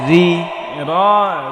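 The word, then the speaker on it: رِ: এটা মনে রাখতে হবে, রয়ের নিচে জের হলে রটা পাতলা করে পড়তে হবে, রি রি।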